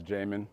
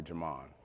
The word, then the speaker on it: Jamon: My name is Jamon, but you hear a lot of people call me Jamon.